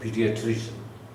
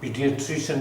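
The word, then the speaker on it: pediatrician: पीडियाट्रिशियन 2-4 बार बोलोगे तो हो जाएगा पीडियाट्रिशियन। यस, ट्रिशन बोलते हैं इसे, शियन नहीं बोलते। तो ये पीडियाट्रिशियन ही होता है, specialist in फॉर the children, right.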